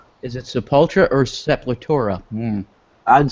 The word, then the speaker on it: Sepultura: They do it to friggin' Sepultura.